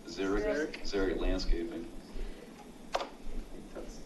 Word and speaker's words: xeric: All right, Zero, how do you pronounce that? Xeric.